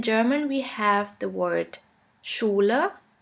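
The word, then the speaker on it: Schüler: few examples in english you would simply pronounce it like in the word sheep sheep and in german we have the word schuler schuler which means school the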